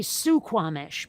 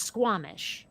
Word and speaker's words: Squamish: and the Q and Squamish like it looks like it should be su Kwong ish but it's Squamish okay then okay it's in